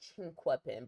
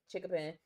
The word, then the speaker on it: Chinquapin: I went to Yorkwood Elementary School, Chickapin, well, technically Chinquapin, but ain't nobody say it like that. It was Chickapin Middle School, Baltimore Polytechnic Institute, and Morgan State University.